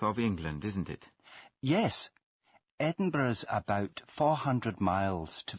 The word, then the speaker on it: Edinburgh: of course I'm from Edinburgh can you spell that for me please yes it's e d i n b u r g h thank you and where